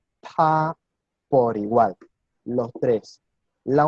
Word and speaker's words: 他: Y la pronunciación para estos 3 es la misma. ¿sí? Es ta.